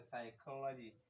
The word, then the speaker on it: psychology: Kada ku manta PSY to P is silent ta farkon nan zai tashi daga kan psychology, psychopath, psychologist.